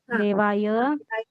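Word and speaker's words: देवयोः: देवा चतुर्थ बोल रहे देवाय देवाय देवा चतुर्थ देवा देवा देवा दे दे हा पंचमी पंचमी देवस्य देवा देयो देवा नाम ट दे उसका उच्चारण है देव यो देयो नहीं बोलना देव यो हो देव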